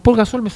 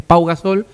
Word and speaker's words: Pau Gasol: queda con Paul gasol me pasa lo mismo es Pau gasol y yo digo Paul gasol es es un nombre super recontra Catalán lo más Catalán se pronuncia exactamente paapi pero a nosotros la i esa la e no nos sale no nos sale mucho Sí sí sí Ya